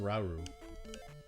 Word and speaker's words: Rauru: No, it's pronounced Rauru.